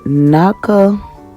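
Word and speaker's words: Natchitoches: Bossier Parish was formed out of the great Nakatush. Now, my Louisiana people help me out with that because this word is not spelled the way it's pronounced.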